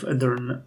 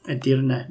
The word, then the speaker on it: Edirne: But I'm not gonna ignore the cities of Edirne or Edirne, depending on how you wanna pronounce it, and Bursa, and I'm not gonna